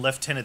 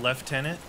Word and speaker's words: lieutenant: like the European pronunciation leftenant there's no F in Lieutenant it's the same it's the same in Canada you pronounce it left tenant yeah when I was in the military it was left tenant there's no F in